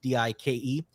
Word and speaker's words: Dyke: His last name is pronounced Dike.